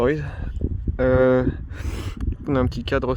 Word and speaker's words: Oiz: de mon nouveau vélo, le Orbea Oise H30, ou Oise, comme vous préférez le prononcer. Pour moi ce sera Oise.